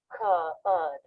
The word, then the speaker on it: could: Note that the L is silent in these words, and they all have the vowel as in book, where the lips flare a little bit and there's It's coming.